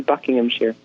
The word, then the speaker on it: Buckinghamshire: And the correct pronunciation is actually Buckinghamshire.